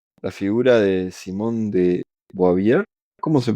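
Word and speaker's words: Beauvoir: Simón de Bobió. ¿Qué? ¿Cómo estamos? A cuestiona profundamente el rol femenino de la época. Sí, creo que es Buboar, ¿no? Es Buboar. Simón de Buboar, algo así.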